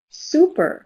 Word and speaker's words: super: Most people are saying blue. Some people are saying purple. Listen to it. Purple shirt. Super. Blue moon. Super. Purple shirt. Super. Blue moon. S super. Blue moon super. Can you hear that? It's blue moon.